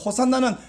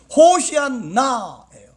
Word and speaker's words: 호산나: 그들이 호산나 외쳤는데, 호산나는 정확한 발음으로는 호시안나예요.